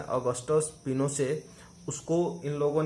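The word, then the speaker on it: Pinochet: General Augusto पिनोचेट pronounced पिनोसे an army general lead the corp.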